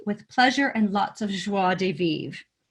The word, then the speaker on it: joie de vivre: of joie de vivre i'm sure i'm not pronouncing that right but i'm trying no you nailed it really we used to say joy de vivre yeah we got corrected on that one yeah people were like